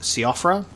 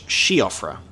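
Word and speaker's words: Siofra: with how it's spelt it looks like it's pronounced siophera apparently it's shiofra or like chakra it's like an sh i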